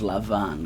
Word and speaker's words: Lavan: just a note here, I'm going to pronounce his name as Lavan, because that's how the Hebrew is pronounced, but perhaps you are familiar with him being called Laban, but those are the same people.